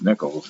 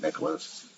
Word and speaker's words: Nichols: I mean, last name is Nichols, but I get Nicholas. I get all kinds of other I've seen it spelled.